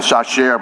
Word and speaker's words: Chachere: Ernest Chachere. It was during these days, I'm sure they say something other than Chachere, but that's technically the French way to pronounce that name.